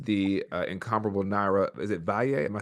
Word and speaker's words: Valle: Is it Valle? Am I saying it right? Valle. Yep, Valle.